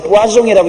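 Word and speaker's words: poisson: 물고기 잡지 마라 놓은 것을 똑같은 단어인데 영어로는 포이션이라고 읽고 블란스는 뿌아종이라고 읽는데 영어는 독이란 말이고 블란스 말은 물고기란 말입니다.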